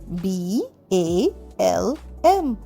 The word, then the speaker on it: balm: পরেরটায় BALM, balm। বাম মানে মলম। এখানেও কিন্তু এলটা উচ্চারণ হচ্ছে না।